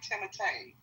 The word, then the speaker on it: Timothée: I think that's how you say his name, Timothée.